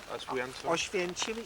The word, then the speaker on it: Oświęcim: How do you pronounce it? Sorry. Oświęcim, it is named Auschwitz.